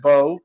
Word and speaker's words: Beau: Now, Stacy is in love with her new boo. I cannot pronounce that. Beau. Is it Beau? Bo, yes.